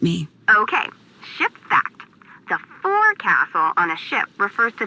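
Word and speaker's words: forecastle: F why is that try pronouncing it like an English sailor with no formal education faux Castle folville over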